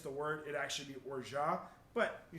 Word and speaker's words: orgeat: So it's French, and there's a T at the end, so it's actually pronounced orgeat. You would say orgeat if the next word started with a consonant. So you would say orgeat and then pull it over.